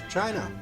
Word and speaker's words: Qin: Chinese emperor of the Qin Dynasty spelled Qi and pronounced chin that's him I believe